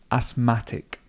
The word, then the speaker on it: asthmatic: Asthmatic. Asthmatic, and the stress moves.